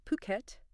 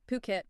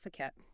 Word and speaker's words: Phuket: And just a quick note for anyone unfamiliar, it's pronounced Phuket. Yeah, Phuket, not Fuket.